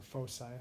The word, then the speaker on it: foci: word for that is foci or Foe side however you want to pronounce that and in terms